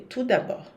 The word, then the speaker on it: tout d'abord: Não se pronuncia nem o T nem o D, tout d'abord.